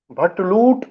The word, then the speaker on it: भट्ट: भट्ट से मतलब कि जिस दिन कश्मीरी पंडित, जो अपने आप को भट्ट कहते हैं और कश्मीरी प्रोनाउंसिएशन जिसका बट है, तो बट दिवस है।